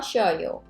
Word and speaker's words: 쉬어요: 호텔에서 쉬어요. Notice how I don't pronounce it like 쉬어요. 쉬어요. A lot of times it sounds like a two-syllable, by the way.